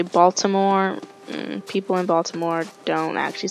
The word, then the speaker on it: Baltimore: Baltimore and people in Baltimore don't actually say boats where we say Baltimore like Baltimore like the T does not exist I know it's written but the T is silent so you know if